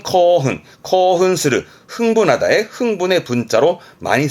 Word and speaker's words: 興奮: 발음은 코흔, 코흔스르, 흥분하다의 흥분의 분자로 많이 쓰여집니다.